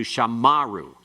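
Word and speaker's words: שָׁמָרוּ: Normally, it's they kept shamru. Shamru, actually. Shamru. And it's secondary accent, metheg, moving to the other accent. But if that occurs in the middle of the verse, where you have the athnak, it will change it to shamaru.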